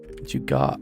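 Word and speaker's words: jugaad: Sorry, Jugard? Sorry, what is it? Jugard? Jugard. Hey, what's the Jugard? Excuse me, what? How do you spell it? G-U-J-U-G-A-A-D. I think. Jugad.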